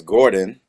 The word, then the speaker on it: Gorden: them the pronounced way to say it and spell it well it's Gordon and it's g o rde n not o